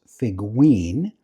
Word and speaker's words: Figoin: He says it's pronounced Figuin.